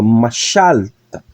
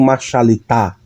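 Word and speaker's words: מָשַׁלְתָּ: Então, perceba que o acento está aqui, ó, machalta. Eu não digo machalita, como se a sílaba tônica fosse aqui, não. Eu digo machalta.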